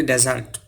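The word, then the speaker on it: dessert: এটার উচ্চারণ হবে ডিজার্ট এখানেও দুইটা অংশ পরের অংশটার উপর জোর দিতে হবে ডিজার্ট শব্দের অর্থ হচ্ছে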